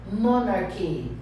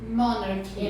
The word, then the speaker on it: monarchy: CH com som de K. Monarchy. Monarchy.